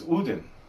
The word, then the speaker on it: Odin: some things it's tour and odin the way that we do it because we're country uh is uden and um let's see what